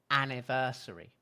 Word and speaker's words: anniversary: You didn't say anniversary, right? You said anniversary. So it's a weak syllable. It's a weak syllable. So you can use a schwa.